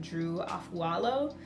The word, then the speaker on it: Drew Afualo: on TikTok, I'm sure you have heard of Drew Afualo.